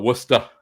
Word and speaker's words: Worcester: again I gota get up to Worcester anyway uh wora if you will I to say you said it wrong I said it wrong